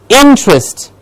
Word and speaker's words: interest: Interest. Interest. I am interested. Yes, interest. In gets a clear stress.